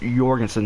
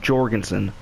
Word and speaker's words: Jorgensen: the Krag Jorgensen and it's Jorgensen with like a why pronunciation by the way it's your Genson not Jorgenson like with a J's Jorgensen also a little other